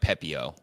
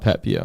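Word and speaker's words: Pepiot: Basically, it's just like without the T, so it's like Pepio. Oh, Pepio.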